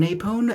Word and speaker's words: Apone: I personally adore it we have a pone down here or maybe it's a pone but I've heard it pronounced apone so that's what we're sticking with but he looks really